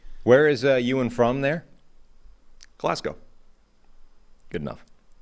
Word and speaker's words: Glasgow: Glasgow. Good enough. Glasgow.